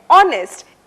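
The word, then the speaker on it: honest: तीसरा उदाहरण है ऑनेस्ट। इसमें H बिल्कुल साइलेंट है।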